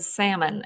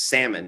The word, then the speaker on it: salmon: It's pronounced like that in Spanish, and he just refuses to believe me that it's a silent L in English.